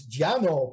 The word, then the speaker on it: Llano: petronades you know and llano is giano you know we we